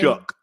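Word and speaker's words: Shough: Tyler, how do you say pronounce that name? Shook.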